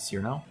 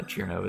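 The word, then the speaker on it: Cirno: found it very reason I always pronounced it Cyrano but I found it recently the based on like the the Japanese uh cheerno is more accurate but yeah anyway so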